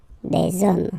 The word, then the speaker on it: hommes: You don't pronounce it, so you get des hommes, okay?